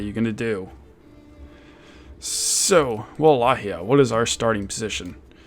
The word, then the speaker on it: Wallachia: better than playing as the good old principality of Walachia, as apparently it is pronounced.